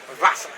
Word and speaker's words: Wasser: The Germans pronounce the W as a V, don't they? Yeah, witchcraft. Wasser. Even though it's with a W.